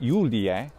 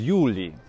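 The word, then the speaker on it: Iuli: long letter i so the evocative of julius isn't julie but is yuli and a much more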